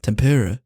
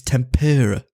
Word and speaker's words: tempura: title of the episode it's not Tempur it's tempura I mean it might